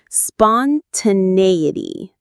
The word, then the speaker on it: spontaneity: Spontaneity. Spontaneity. The main stress is on the nay syllable.